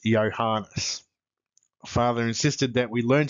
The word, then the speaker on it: Johannes: My parents always called me by my full Christian name, Johannes, which in the Danish manner they pronounced Yanas.